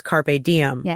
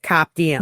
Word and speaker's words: carpe diem: I also noticed that he knows how to pronounce carpe diem, unlike Higgins, who pronounced it cap diem.